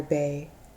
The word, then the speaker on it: Bay: Walla penitentiary named father Bay and the last name is spelled be eh john told me it was pronounced bay who held to the